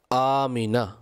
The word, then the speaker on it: আমিনা: নাম আমেনা ছিল না আমনা ছিল আমিনা মিম এর নিচে জের রয়েছে আমিনা আমাদের এখানে মিমকে সাকিন পড়া হয় সাধারণত আমনা বলে থাকে তো সঠিক উচ্চারণ হলো আমিনা আর এটা আরবি শব্দ